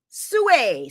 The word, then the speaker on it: Sui: Sue. Sue. That's how they pronounce it. Sue. All right. Some people say Sooie, but you know, Sue, I don't know.